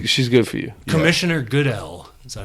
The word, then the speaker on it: Goodell: Commissioner Goodell.